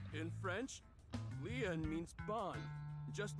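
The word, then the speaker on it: Lien: My name Lean is spelled L I E N. In French, Leen means bond, just like Kuna means bond in Japanese.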